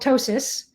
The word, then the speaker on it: ptosis: There's a doctor word for that called ptosis. And that's when the mammogram... We call it droopy boobs. Yeah, so droopy boobs, but doctor term would be ptosis, spelled with a P actually, P-T-O-S-I-S. But that's when your mammograms